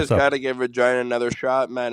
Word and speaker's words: Regina: got to give Regina another shot, man. It's the city that rhymes with fun.